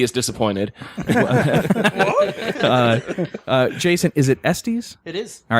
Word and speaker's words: Estes: Is it Estes? It is. All right, we have Wow, Jason- You pronounced it correctly. No one ever does. Really? I would have said Estes.